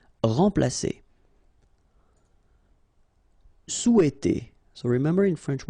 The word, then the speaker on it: remplacer: Remplacer. So M together, and after that you've got a consonant, so it will be like a nasal, so like en. Remplacer. Remplacer.